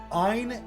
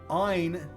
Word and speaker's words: Ain: Ein, and I'm going to call him Ein and not Ain. If somebody pronounces this Ain, that's fine. Please bear with me in the video, but I'm going to be calling him Ein.